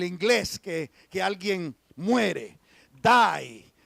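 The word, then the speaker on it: δεῖ: griega que se pronuncia Die como en como en el inglés que que alguien muere Die es d e i pero se pronuncia Die Y esa palabrita pequeñita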